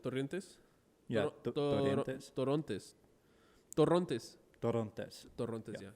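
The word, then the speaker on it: Torrontés: Torrontes. Yeah. Yeah. You gotta roll your R's a little bit with this bitch.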